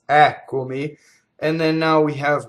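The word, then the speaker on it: Eccomi: We started with an antepenultimate stress, which is the syllable before the second to last, Ɛccomi, and then now we have one on the ultimate.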